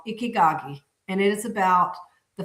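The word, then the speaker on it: Ikigai: And Ickyagi is the way Ickyagi. Yeah, that's the way you say is Icky. That's how they say it.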